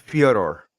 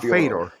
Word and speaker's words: Fyodor: By the way, guys, it's pronounced Fyodor. It's not Fedor. No, Fyodor.